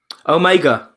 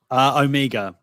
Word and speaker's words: Omega: Omega. Luke, say her name. Omega. Yeah, Omega. Omega. Omega's an Americanism, isn't it? It's like schedule and schedule.